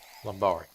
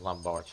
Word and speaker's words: lumbari: Lumbari. I keep saying lumbar, it's lumbari. I believe that is the correct pronunciation.